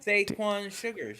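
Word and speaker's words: Saquon Shugars: And then in your main event, Javon Evans defeated Saquon Sugars. Is that how it's pronounced? And I fucking watched NXT. God Saquon Sugars, yes.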